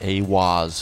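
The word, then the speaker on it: Aiwass: Aleister Crowley meditated inside the Giza octagram and channeled the divinity Awaz, pronounced Awaz, furthering the immutable connection between channeling divinity and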